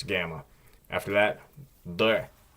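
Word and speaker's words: Д: And just like with the previous letter, if it's at the end of a word or syllable, it will change to a T sound.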